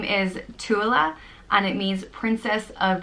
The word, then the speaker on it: Tuilelaith: The next name is very similar to Tuilelaith, and it's Tuilelaith, and it means princess of abundance, and it is pronounced Tuilelaith, Tuilelaith, or it can be pronounced Tuilelaith, and I think again depending on where in Ireland you are.